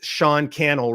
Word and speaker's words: Cannell: At Sean Cannell, rhymes with YouTube channel on Instagram specifically.